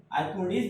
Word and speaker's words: आर्किमिडीज: पड़ेगा, जिसको बोलेंगे हम आर्काइमेडीज। आर्किमिडीज बोलते हैं, लेकिन स्पेलिंग याद करने के लिए आप बोल सकते हो आर्काइमेडीज प्रिंसिपल।